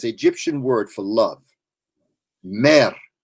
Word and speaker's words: mer: Mer. I would spell it M-E-R, but the way it sounds is mer.